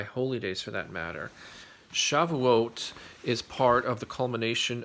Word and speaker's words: Shavuot: moment or two about shavuot or chavis as my father would refer to it in his heavily accented yiddish pronunciation shavuot is one of